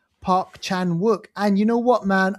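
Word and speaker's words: Park Chan-wook: This is uh called No Other Choice directed by Park Park Chakong. No, I'm saying that wrong. I butchered his name. Park Park Chan Wuk.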